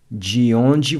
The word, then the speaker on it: de onde: Notice how the DE is pronounced like a J in the English word judge. De onde. De onde você é?